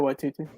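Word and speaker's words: Waititi: hemsworth and tycho white wait tt do i pronounce his name right yeah taika white tt yeah taiko ytti they wrapped filming of uh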